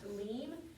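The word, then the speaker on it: באלים: Now, if I were you on 43, where it says L-I-M, which looks like limb, but it's actually pronounced leem, I would go ahead and mark out the L-I-M, mark that out, and write L-E-E-M above it to remind you that that's going to be leem, okay?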